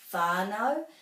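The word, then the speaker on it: whānau: good at doing that it's much more commonly pronounced as fi so you can be very comfortable saying whanau if in your area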